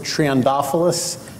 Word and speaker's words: Triantafillos: Yeah, you actually pronounce it TRIANTAFILLOS. Kind of rhymes with snuffleupagus, you know, Big Bird's imaginary friend on Sesame Street.